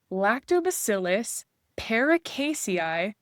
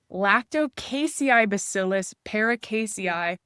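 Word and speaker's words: Lacticaseibacillus paracasei: Lactobacillus paracasei. Oh, sorry. No, I said it wrong. They changed the name. Lactocasei bacillus paracasei.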